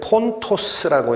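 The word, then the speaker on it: Πόντος: 원래는 폰토스라고 읽힙니다.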